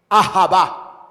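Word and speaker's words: אהבה: lo que esa palabra amor en hebreo es java así se pronuncia a java lo que esa expresión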